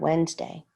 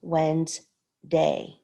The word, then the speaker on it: Wednesday: look at the word wednesday it's spelled wed nes day but that's not how we pronounce it we pronounce it when's day okay these dashes mark